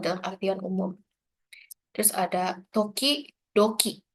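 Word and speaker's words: 時々: Jadi ini kanji buat ngulang pelafalan di depannya. Toki, doki. Jadi kalau orang-orang itu hito, hitobito. Tapi tulisannya nggak kayak gini ya. Tapi kayak hitobito. Kalau di sini berarti toki, doki.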